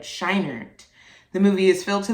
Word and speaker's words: Scheinert: I want to make sure I pronounce that right. Scheinert.